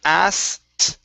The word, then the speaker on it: asked: Okay, go straight to a T sound. Take out the K, and it's asked, asked.